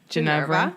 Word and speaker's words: Ginevra: Ginevra.